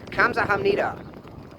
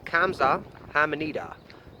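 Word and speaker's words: 감사합니다: Keep in mind that this word does begin with a G when you spell it, however when you actually say it, it starts with a K. However, saying that as well, for a Korean native speaker, that is more in between a G and a K.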